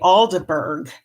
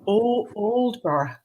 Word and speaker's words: Aldeburgh: And in English, we would say Aldeburgh. Yeah. Completely, it's so unattractive. But Oldborough, yeah. It's got this lull and loveliness. Yeah. I'll translate that. Então, gente, vamos corrigir a pronúncia do Festival Aldeburgh, que a gente vendo pelas letras seria pronunciado assim até nos Estados Unidos. Mas o correto é Oldborough. Oldborough. But it's borough.